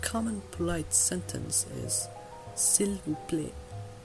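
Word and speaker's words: plat: dish in French is pla you'll notice that I didn't pronounce the T at the end of the word if a word ends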